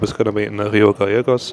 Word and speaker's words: Río Gallegos: First stop is going to be in Rio Gayos or Rio Gajos as they pronounce it here in Argentina I think.